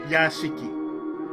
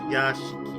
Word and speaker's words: Yashiki: Yes, it's Yashiki. For those who don't know, that's how it's pronounced. Yashiki.